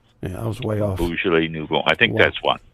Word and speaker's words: Beaujolais: Beaujolais. B-E-A-U. Oh, what? J-O-L. Hold on. B-E-A-U. Where'd you get that? B-E-A-U. Beau, like in beautiful. Beaujolais. J-O-L-A-I-S. Beaujolais. Oh, wow. Nouveau. N-O-U-V-E-A-U. Yeah, I was way off. Beaujolais Nouveau.